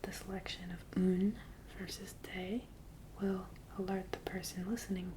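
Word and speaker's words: des: into a longer plural both of these are pronounced day just like day and night day today so you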